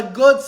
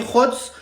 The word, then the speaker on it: Godts: C'est officiel Mika Hots parce qu'on prononce pas God mais hots signe au PSG les gars.